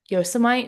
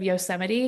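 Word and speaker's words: Yosemite: Um I once said yosomite instead of yoseite because I had never heard the word before and I said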